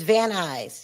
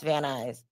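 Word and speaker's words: Van Nuys: It's vanis. He laughs. Oh, they a lot of people unless you're from LA don't know how to pronounce van eyes cuz it's not pron it's not spelled van eyes anyway.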